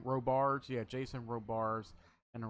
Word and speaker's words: Robards: And of course, Jason Roberts, I think I think that's how you pronounce his name. Robards.